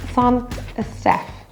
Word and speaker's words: Saint-Estèphe: Saint-Estèphe. Saint-Julien. Three very famous French wine producing appellations. You'll notice that for Emilion and Estèphe, the T is pronounced. That's because it's in front of a vowel.